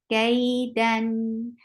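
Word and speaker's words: كيدا: And for Fatha, open your jaw as well, attach with Ya, Kay. Then give the tawassut because it is, you're pronouncing Tanween. And when you, how will you say it? Kaidan.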